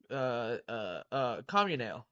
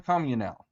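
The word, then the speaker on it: Comunale: How do you pronounce his last name again? Uh. Communale. John Wayne Communale.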